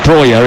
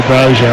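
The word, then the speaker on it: Broja: He plays internationally for Albania, and the reason he wants to be called Breuer is because that's how they say it in Albania. He was born in Slough, though. Does that help you? If he was born in Slough, it's got to be Brozier, isn't it? Breuer.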